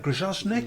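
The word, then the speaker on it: Grajczonek: How do we pronounce that? Grozovnik.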